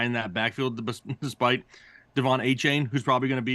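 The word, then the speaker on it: Achane: chain nickname right now as long as you pronounce it correctly yes it's a chain that's what I said oh 18.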